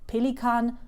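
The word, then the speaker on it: Pelikan: gift it is the Pelican souan uh m800 so if you wanted to hear this in German it's Pilan s uh m800 m800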